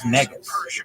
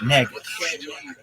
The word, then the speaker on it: negus: The word is negus. An Ethiopian king, negus. Negus. Use it in a sentence. A negus is an Ethiopian king.